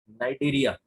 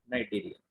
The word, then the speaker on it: Cnidaria: एक को बोलते हैं नाइटेरिया, CNIDARIA, नाइटेरिया. और दूसरे होते हैं टीनोफर्स, CTE, सी साइलेंट है, टीनोफोरा.